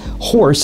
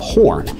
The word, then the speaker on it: Horne: who during roll call accidentally pronounced his surname as Horse instead of Horn, and the moniker stuck